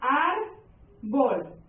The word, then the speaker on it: árbol: Vamos con la siguiente palabra, árbol. Clasificamos, árbol. Penúltima sílaba son, última, penúltima. Y esa es mi sílaba tónica.